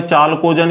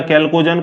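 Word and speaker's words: chalcogen: चालकोजन या कैल्कोजन, कुछ भी बोल सकते हो, स्पेलिंग CH है, ठीक है ना, चालकोजन, ठीक है।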